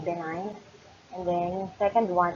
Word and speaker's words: benign: Yung isa ay tawag natin ay benign, and then that is silent G, benign, and then yung second one is malignant.